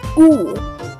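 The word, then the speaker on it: У: The next one looks like a Y, but is actually pronounced as oo, and this also makes sense in English cursive because the Y looks like an oo.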